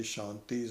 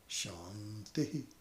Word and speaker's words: Shanti: Actually, with Purnamadav, the Shantis are pronounced separately. I keep forgetting that. So it is the Anuswara first. So it becomes Shanti, Shanti, Shanti. Not Shanti. Not the high to the low, but low to high.